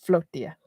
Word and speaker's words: Flotilla: Newestra America Flotilla or Flotia, however you pronounce it. I think it's pronounced Flotia like tortilla. It's pronounced Floatia. Yeah, they're selling to Kuba to give aid to those in need.